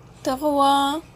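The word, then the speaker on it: trois: تغوى الإس برضو مش منطوقة.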